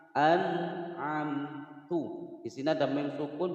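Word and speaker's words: أَنْعَمْتُ: satu huruf idhar, maka cara membaca nun sukunnya dibaca jelas dan tidak boleh dipantulkan. Nah, itu namanya memantulkan atau mentawaludkan. Cara membacanya harus dibaca jelas. An'amtu.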